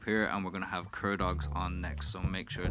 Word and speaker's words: Cur Dogs: gentlemen we have in front of me the Cur dogs is that am I pronouncing that right yeah CCC um so why